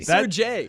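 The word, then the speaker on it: Sergei: goalie for the Panthers he also got the first name wrong that's Sergey Sir Jay that's why we just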